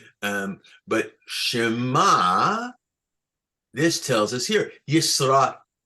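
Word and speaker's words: שְׁמַע: the the the the the Trope sign here is under the mem so it's Shema that's how we know how it sounds because we don't have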